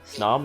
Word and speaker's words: Snom: Snom rhymes with song. Does it? Snom Kind of. and Song. Close enough.